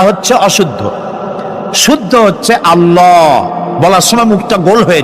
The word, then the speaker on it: আল্লাহ: মানে কি গু বলেন কি গুণাবলিতে বিশ্বাস আল্লাহর নাম আল্লাহ বলেন তো আল্লাহ নয় কিন্তু আল্লাহ হচ্ছে অশুদ্ধ শুদ্ধ হচ্ছে আল্লাহ বলার সময় মুখটা গোল হয়ে যাবে বলেন তো